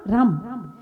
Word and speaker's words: रं: तो इसमें बताया है कि एक अरहम, अरहम शब्द है ना, रम, रम, हा ऊपर रेप बिंदी, इसको कहते हैं रम। इसका क्या उच्चारण होगा? रम।